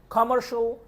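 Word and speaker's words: commercially: কমার্শিয়াল, কমার্শিয়ালি। ওটা বলা শলি, শিয়ালি না, শলি।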